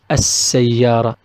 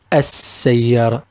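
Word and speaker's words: السيارة: On the other hand, we have Sa is one of the alphabets of Al Shamsiya, the solar Al, so we pronounce it As-Sayyara, As-Sayyara.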